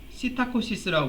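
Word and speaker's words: psittacosis: 그래서 이름은 이제 앵무병이라고도 부르고 이게 피가 이제 묵음이에요. 그래서 시타코시스라고 불러요.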